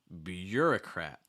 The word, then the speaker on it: bureaucrat: here um bureaucrat bureaucrat notice that the you're selling at that first level bureaucrat also that at the end does not get reduced it maintains that ah sound first it's like a cat so again ah at